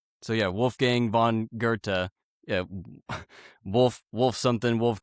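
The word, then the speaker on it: Goethe: in Wolf Gang Bond Gerta G O E T H E um but we you know we that H is kind of silent or kind of strangely silent, right?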